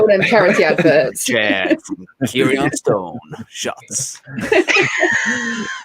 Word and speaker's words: Kieran: He said it's not Kirion. Yeah, so it's how Richard pronounces Kieran. Like, I think in the podcast with Amy. Kieran? Kieran. Yeah, he's just a normal Kieran.